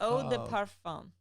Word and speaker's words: eau de parfum: Yeah, and then a year later, she bought it for me, and I was like, Eau de parfum.